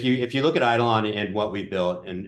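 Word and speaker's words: eidolon: in this open source project and again it's idolon EI d i l n I think on Eid look I'm going to spell it out it's going to be easy yeah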